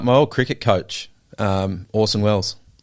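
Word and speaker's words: Orson Welles: old Cricket coach um Orson Wells oh yeah yeah except his that Wells is spelled with an extra e but nevertheless when you say it it sounds the same so um yeah uh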